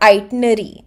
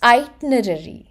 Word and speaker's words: itinerary: the meaning of itenerary so it is not itenary I have seen a lot of few pronouncing it wrong it is not itary but it's itinerary itinerary okay so it's basically the journey or